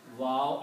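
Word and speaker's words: و: Wow has the sound of o in English and yah has the sound of e in English.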